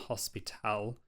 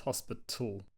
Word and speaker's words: hospital: So it's not hospital, it's hospital.